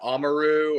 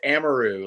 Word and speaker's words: Amaru: areu how am areu it's a lot of say amaru or Amaro or um I'm like man it's like it's amaru like you know I know I said it right right so you were